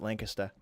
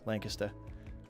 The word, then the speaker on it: Lancaster: The locals in Lancaster, New Hampshire pronounce it Lancaster. It loses the R entirely. Lancaster.